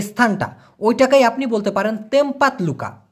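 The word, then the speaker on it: tempat luka: ওইটাকেই আপনি বলতে পারেন তেমপাত লুকা। কি বলতে পারেন? তেমপাত লুকা। আমি লিখে দেব, লিখে দিই, তাহলে আপনার জন্য বুঝতে সুবিধা হবে। উচ্চারণটা হবে TEMPAT, লুকা, এরকম উচ্চারণ হবে, তেমপাত লুকা।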